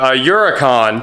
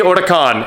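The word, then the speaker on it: Huracán: is the member tavini Otakon and you know the H is silent so I figured I'd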